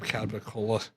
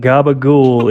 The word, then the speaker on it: capicola: Give me my goddamn Capicola. All right. What the fuck? I didn't know for the longest time that gabagool is just the horrible, horrible mispronunciation of capicola, and that is fucking painful.